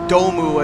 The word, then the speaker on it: Dome: i was saying is that dome or domu as you'd pronounce it in japanese um butchering that um